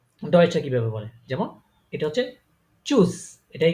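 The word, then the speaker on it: tschüss: আছে সো এগুলাকে কিভাবে বলে যেমন এটা হচ্ছে চুজ এটাকে কি বলে তারা চুজ এখানে কিন্তু দেখেন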